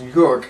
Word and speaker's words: Joerg: give it up yes just call me Europe like New York like New York that's that's perfect you